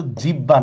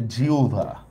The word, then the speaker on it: জিহ্বা: হবে আহবান ঠিক আছে সেম এটা কিন্তু জিহ্বা না এটা হচ্ছে জিউভারা জিভ ঠিক আছে হর সাথে ব হলে সেটার উচ্চারণটা ব্যতিক্রম জফলা উচ্চারণ পড়া ফেলছি